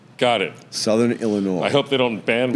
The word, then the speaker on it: Illinois: is an S but the S is silent got it Southern Illinois I hope they don't